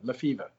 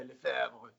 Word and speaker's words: Le Feuvre: for the analogy, but it really is pronounced like the sickness, fever, Le Feuvre. Le Feuvre. Well, there you go. I've known you for years. It's not much fancier if you say Le Feuvre.